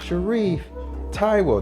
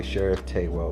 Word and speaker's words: Sharif Tywell: is competitor number 691, Sharif Tywell. They're gonna say Sheriff Taywell, like they always do. They always get my own name wrong.